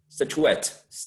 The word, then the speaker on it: statuette: know that it should the stress should be placed in the last seal so i i totally understand statuette statuette yes statuette like silhouettes sounds quite french doesn't it so uh